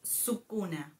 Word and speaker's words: Sukuna: So, it is Sukuna.